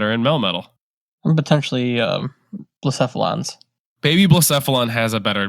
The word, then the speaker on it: Blacephalon: I don't know who calls it Blaspheon, even though I think the anime says Blacephalon and everybody else says Blacephalon.